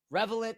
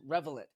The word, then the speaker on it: Revelant: Revelant, I said it right this time, Revelant.